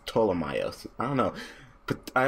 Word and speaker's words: Ptolemaios: No, the P is silent, so it's Ptolemaios.